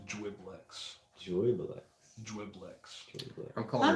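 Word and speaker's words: Juiblex: So I guess it'll be pronounced Dwiblex. Joyblex. Dwiblex. I'm calling Not it necessarily. Jublex. There's juice. I'm calling it Juiceblex? Jublex. Jublex. Yeah. Jublex. Yeah, no, that's Jublex. Jublex.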